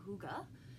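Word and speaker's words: hygge: know if you've ever heard of the term hookah it's pretty it's pronounced to ago but it's spelled hyg GE and it is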